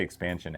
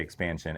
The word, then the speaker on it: Xpansion: And if you don't know what I'm talking about when I say expansion, it's spelled X P A N S I O N.